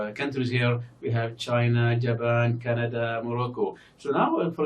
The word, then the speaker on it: Japan: turkey Japan that now look at Japan we have the second Sy here is stressed but the first one is not stressed now why because the second syllable in Japan is longer than the first one Japan Japan Jaan so